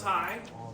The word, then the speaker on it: Hay: I'm High, spelled like Hay, pronounced High, German if you're wondering.